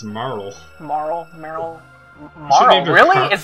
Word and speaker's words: Marle: run whatever so um Merl has or Carol has become a bunch of oh never mind your name's not even Merl it's Marl Marl Merl Marl really